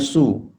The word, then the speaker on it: 穌: Sekarang kita pelajari Yesus punya su ya. Ini adalah Yesus punya su ya. Su, bacanya su.